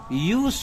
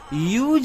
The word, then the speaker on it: use: रूप में करता हूं तो इस शब्द का अंग्रेजी में उच्चारण यूज हो जाता है यूज यो दुकार